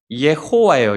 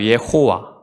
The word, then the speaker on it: 여호와: 옛날에 학자들이 이제 이것을 연구를 해가지고 과연 이 발음이 뭘까 해서 나온 게 예호와예요. 예호와. 예호와인데 이걸 어디서 땄냐면 아도나이의 모음을 따서 만들었습니다. 예호와.